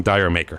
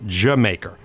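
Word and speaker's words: D'yer Mak'er: fun cool but ya don't pronounce that song Dyer maker whatever you do it's Jamaica this next song is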